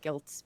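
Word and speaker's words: Gylt: one game on there called gilts but it's spelled G ylt and that was why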